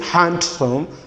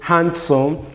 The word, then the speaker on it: handsome: not to be realized so we don't say handsome rather we say handsome we say hank achieve we say hanky we don't say handsome hand catching and we don't say hand key no rather it is handsome handkerchief and hanky so in these words and the words that looks like them the letter d the letter d here are not to be realized okay the the next